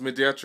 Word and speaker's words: Mediatrice: say hello mediatr it's pronounced mediatr yes no um you send medat mediat so